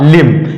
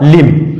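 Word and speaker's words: limb: एल आई एम बी एल आई एम बी इसमें भी एम के बाद बी आया है तो इसका भी सही उच्चारण होगा लिम इसका भी सही उच्चारण क्या होगा लिम आगे है डी य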